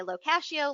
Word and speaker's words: Locashio: That happened because whenever I tell somebody how to pronounce my name, I say Locashio like pistachio.